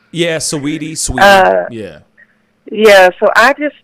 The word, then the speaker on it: Saweetie: Yeah, Saweetie.